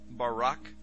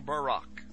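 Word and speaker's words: ברק: So lightning, or a flash of light, in Hebrew is pronounced barak or barak.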